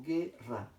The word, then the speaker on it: guerra: Porque esta G en fonema se pronuncia G, G. Y esta E simplemente es el complemento. De tal manera que yo no digo guerra, sino simplemente digo guerra. No pronuncio la U, por tanto no hay diptongo.